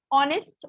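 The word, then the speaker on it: honest: ऑनेस्ट, ऑनेस्ट आपको पता है H is silent in this, so ऑनेस्ट, ऑनेस्ट means loyal and faithful, loyal and faithful person.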